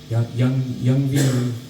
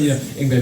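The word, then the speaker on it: Yngwie: I thought it was Young V. Malmsteen. So then I learned, Ingvar Malmsteen, of course.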